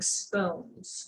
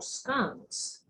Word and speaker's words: scones: Today I'm going to talk a little bit about some tips and tricks to making scones or scones, depending on how you pronounce it.